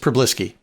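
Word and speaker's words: Przybylski: prbis no they don't they don't pronounce the Z's it's just prisy prisy P okay pisy take any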